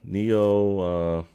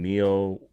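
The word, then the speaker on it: Nioh: So for the most part, Neo 1 and 2, or I think that's how you say it.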